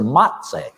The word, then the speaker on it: Mazzei: His name was Filippo Mazzei, Mazzei. I have often referred to him phonetically in my Virginia dialect as Mr. Matsay, Matsay.